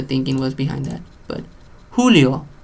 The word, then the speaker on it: Julio: J, and it sounds like an H. So I don't know what the thinking was behind that. But Julio, lejos.